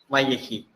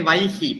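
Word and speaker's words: וַיְהִי: Vayehi. Vayehi. Vayehi. Okay, it's actually Vaihi because it's a short form. So this shwa is silent.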